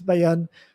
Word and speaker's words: Bayonne: So just like Bayonne, New Jersey, it's spelled the same, but this is Bayonne.